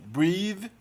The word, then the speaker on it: breathe: Observa que o TH também muda de pronúncia aí. No primeiro caso ele é sonoro, breathe. E no segundo caso ele é surdo, breath. Mas tem algumas palavras que são excepcionais.